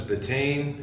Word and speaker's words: betaine: Beets contain, I'm going to pronounce this betaine, it's B-E-T-A-I-N-E, not a doctor.